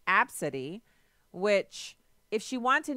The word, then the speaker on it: Abcde: now this chick actually has she said it's pronounced AB City which if she want to name her daughter